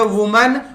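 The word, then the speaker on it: women: अब अगला शब्द है वुमन, और है ये विमिन। पहले तो प्रोनाउंस कर लो बच्चा।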